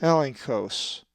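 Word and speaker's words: ἔλεγχος: A Greek word that has the double consonant gamma he is elenchos, which means proof, and is number 1650. The accent is over the epsilon, and it is pronounced elenchos.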